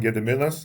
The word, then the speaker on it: Gediminas: because I keep saying I've got kind of two names. One is the domestic one, Gediminas, and then, for the international customers, I keep saying.